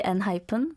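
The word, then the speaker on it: ENHYPEN: Mispronounced because, come on, hyphen, right? Because we know hyphen, but it's N-hyphen. Yes. I caught that this year, actually last week. No, whenever it's in Korean, I say N-hyphen.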